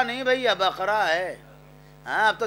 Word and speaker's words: بقرہ: سورہ بقرہ نہیں بھئی, بقرہ ہے. ہاں, اب تو تلفظ بڑا خراب ہو گیا.